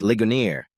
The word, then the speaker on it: Ligonier: She pronounced it like it was French, and I made a little sound. "Don't let anyone around here hear you say that. It's pronounced Ligonier," I said, stressing the simple vowels and strong consonants.